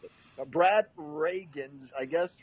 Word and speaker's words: Rheingans: Like Ronald Reagan, but with an S on the end? No, it's Rangans? I honestly don't know either. It's Rhaegens, Rangans. Okay. No, it's Rheingans is how they spell it.